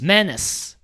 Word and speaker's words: menace: So here it's pronounced menace. Menace. There's also the British English pronunciation, which is menace. Menace. It's closer to penis, menace, penis.